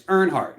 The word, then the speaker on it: Earnhardt: like this story now I said the name wrong it's Earnhardt it's Dale Earnhardt and Alex oh okay